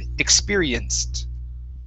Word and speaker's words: experienced: um all right let's watch the ed ending on experienced instead of experienced okay give me a t sound experienced experienced okay very good